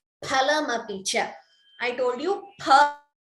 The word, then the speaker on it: फलमपि च: Phalamapicha. I told you pha. Please note the pronunciation. It is not fa, it is pha.